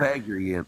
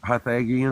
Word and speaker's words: Pythagorean: Pythagorean. Pythagorean. Thank you. That's the way to pronounce it.